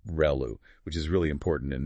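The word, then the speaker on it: ReLU: Professor Ru mentioned um the ru function pronounced reu which is really important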